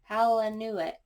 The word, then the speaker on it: Palahniuk: If I'm pronouncing his last name wrong, please let me know in the comments by sounding it out for me. Palahniuk.